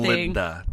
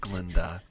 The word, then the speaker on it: Glinda: Glinda, she's just Glenda. Don't give her that extra syllable.